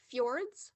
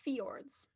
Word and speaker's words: fjords: lubaba contestant ready yep your word has two pronunciations it can be said fjords or fiords FS FS f j